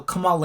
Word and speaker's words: Kamala: just uh lastly um shout out to uh kamala harris uh kamala kamala oh my gosh i'm